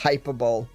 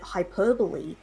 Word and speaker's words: hyperbole: Hyperball. I'd never heard it pronounced before. I'd never heard anybody say it. So, I did the exact same thing. I didn't know that hyperbole Yeah.